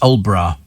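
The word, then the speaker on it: Aldeburgh: Oh, Adelborough is pronounced Old Borough.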